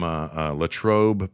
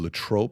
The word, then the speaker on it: Latrobe: He tells you Arnold that Palmer is from Latrobe. Well, I would have never known Latrobe, and I probably would have butchered how to pronounce it if you wouldn't have first said Latrobe.